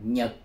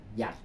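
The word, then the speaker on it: 日: dụ như chữ này âm Hán Việt của chúng ta chúng ta đọc là Nhật Âm Quan thoại đọc là âm Quảng Đông đọc là giạch Thành ra bạn thấy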